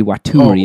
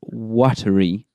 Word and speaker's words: Waturi: volcano Bay has and that word shouldn't be waturi as everyone's pronouncing it it's watery of course yeah watery as